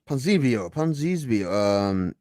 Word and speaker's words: Ponzinibbio: Ponzinibbio.